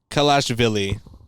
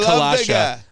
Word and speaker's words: Kalashvili: Is Mamu Kalashvili. Not Kalasha. Mamu Kalashvili. Mamu Kalashvili. Good.